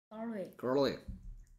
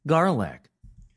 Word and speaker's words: garlic: 자음이 이렇게 있는 경우엔 그땐 얘를 I로 고치고 ES 해야 되기 때문에 During During Garlic Garlic 소리가 garlic 이런 소리 나죠. Garlic. 혀가 R 할 땐 뒤로 갔다가 바로 다음 나오는 L, garlic, garlic.